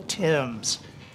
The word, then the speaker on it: Timms: Timms. Says it's pronounced like two guys named Tim.